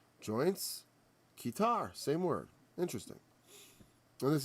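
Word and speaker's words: qtar: Q-T-A-R. Q-tar is how it's pronounced.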